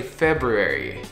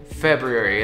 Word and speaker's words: February: February not February February we know the r is there but most of the time we don't pronounce it we don't say February